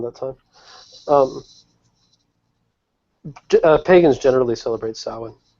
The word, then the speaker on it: Samhain: I'm most familiar with Samhain, which is spelled funny. It's Samhain and then pronounced Samhain.